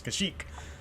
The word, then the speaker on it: Kashyyyk: For a second, I was wondering if I had mispronounced Kashyyyk. You know, it's Kashyyyk. Yeah, the whole time.